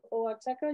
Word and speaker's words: Oaxaca: The X in Spanish in Mexico can be pronounced as X, as J, like my name, Mexico, and also as sh, like in Uxmal.